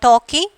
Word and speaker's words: talking: In this talking, L is silent, fastening, T is silent.